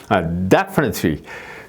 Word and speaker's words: definitely: 위치가 이제 첫 번째 음절에 있는 경우는 말이죠 definitely 그 이제 첫 번에 이제 강세가 있으니까 그다음에